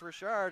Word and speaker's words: Rashard: with the coaching staff I was thinking it was Richard she said no it's Rashard is it fridge so